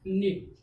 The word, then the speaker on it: knot: ठीक, तो K क्या हो गया साइलेंट हो गया K साइलेंट हो गया तो कितना बचा निट।